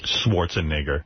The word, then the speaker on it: Schwarzenegger: I mean, it's obviously an E, not an I. Schwarzenegger.